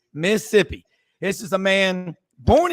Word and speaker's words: Mississippi: on super talk Mississippi notice that is two syllables Dave it's not Mississippi it's Mississippi this is a man